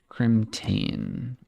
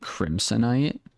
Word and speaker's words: Crimtane: Crimtane. You know, for the longest time I called it Crimsonite. I don't believe it's pronounced Crimsonite at all.